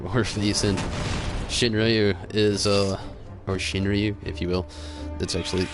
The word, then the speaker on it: Shinryu: Shinryu is, or Shinryu, if you will.